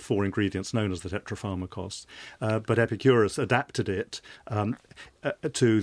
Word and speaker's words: tetrapharmakos: David Sedley, Epicurus encapsulated his core beliefs in a formulation known as tetrapharmakos. Is that how you pronounce that it?